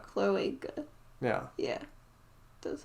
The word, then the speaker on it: cloaca: Cloaca.